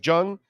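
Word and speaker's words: Jeong: Ken young Jung or Jang Jung how do I pronounce it Ken Jung the comedian it's Jung 54.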